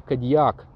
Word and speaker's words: Kodiaq: Почему именно буква Q потому что как утверждает Шкоде именно кодиак произносят местные аборигены И именно поэтому в